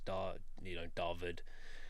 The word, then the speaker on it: Dawid: In Afrikaans, the W is pronounced as a V, so it's Dawid is the way it's pronounced. So I assume it's just a South African version of David. That's Dawid.